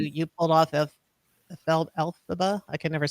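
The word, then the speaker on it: Elphaba: Nate, uh, who you pulled off of Fel Alphaba. I can never say it right. Alphaba, correct?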